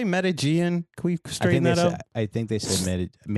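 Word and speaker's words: Medellín: I guess do you say Medellin? Can we straighten that up? I think they said Medellin is how they pronounce it.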